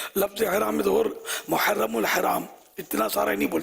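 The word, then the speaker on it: محرّم: محرم کون بولے گا. راہ مشدد ہے. خیر اگر ہا حلق سے نہ بھی نکالی تو کم از کم محرم ہی بولے. لیکن نہیں بولتے صحیح تلفظ.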